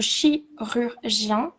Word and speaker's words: chirurgien: On dit le chirurgien et la chirurgienne euh la prononciation, je pense que c'est un peu difficile parce que a le son U en fait ça combine le son U et le son et le son R en même temps.